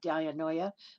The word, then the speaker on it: dianoia: on it all the time, is the word dianoia. Spelled D-I-A-N-O-I-A, it looks like dianoia, but it's pronounced dianoia, which is used in Ephesians chapter